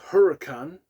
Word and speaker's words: Hurakan: So moving on, we have track number 6 by a band called Hurakan, spelled with a K at the end, Hurakan, and their song Void, which is 4 minutes and 46 seconds.